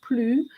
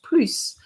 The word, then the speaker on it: plus: but before the exercise i explain when to use plu and when to use plus so you have to